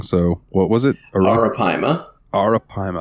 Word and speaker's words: arapaima: Arapaima. I kept want to say Arapamea, and I'm like, that's not right.